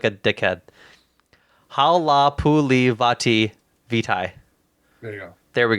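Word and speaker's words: Halapoulivaati Vaitai: Okay, I'm gonna take the second here and pronounce this right guard's name right because I feel like a dickhead. Halapuli Vitae.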